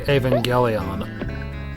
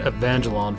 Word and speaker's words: Evangelion: Like learning how to say Evangelion. Yes. I was calling it Evangelon for the last I don't...